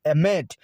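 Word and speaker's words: אמת: They are actually the Hebrew word for truth, and they are pronounced as emet. So it is written as AMT because there are no vowels, but it is pronounced as emet, the word emet, and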